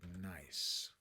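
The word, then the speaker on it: Gneiss: Say nice. That's not helpful either. Nice. Spelled with a GN, okay?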